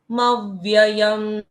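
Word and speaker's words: मव्ययम्: यस मव में क्या किया हमने? म के बाद आधा व ले लिया पहले और फिर मव्ययंम चार नित्यम है ना यस भक्त पुरुष पुरुष म्य म्ययमयम अच्छा वो म और आधा पढ़ा साथ में फिर यम पढ़ दिया। व्ययम पढ़ना ही पड़ता है। आधे व का द्वित्व होता है यहां पर।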